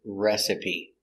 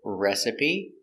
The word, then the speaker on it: recipe: the first word is recipe we're going to pronounce all the letters it's three syllables recipe and a recipe is